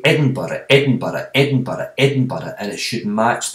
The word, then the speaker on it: Edinburgh: with that is to say edinburgh one two three four edinburgh edinburgh has got four syllables so if you hear